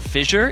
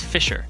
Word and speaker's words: Fissure: Apparently, it's not fissure. It's Fisher. Fisher. Yes. It's an S sound, not a J sound.